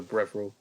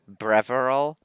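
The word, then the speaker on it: Breville: It's also called a brevril. It's called a what? A brevril, I think is how it's said. Breveril?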